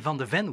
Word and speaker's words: van de Ven: Mickey van de Ven, we say. Ah, van de Ven. With an N.